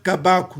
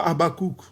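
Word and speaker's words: Habakkuk: Ne l'appelez pas Abakouk. Oh, prophète Abakouk, Alobi Boye, prophète Abakouk, comment on a Ezalaki Abakouk? Son nom n'était pas Abakouk, c'est Kabakou. Voilà, gardez nos traditions, c'est écrit, c'est Kabakou. Voilà, c'est au Congo, c'est Kabakou. Voilà, ne prononcez pas Abakouk, voilà quoi.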